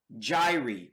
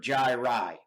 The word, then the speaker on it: gyri: These bumps are called gyri, or gyri. Okay, that's the plural term for these. So these are all collectively known as gyri or gyri. Okay, however you want to pronounce it.